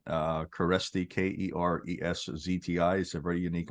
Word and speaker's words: Kereszti: sister my couple of my daughters right uh caresti k-e-r-e-s-z-t-i is a very unique last name yes